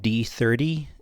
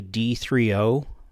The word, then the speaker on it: D3O: wrong the whole time this is not called D30 it's actually d3o which is so stupid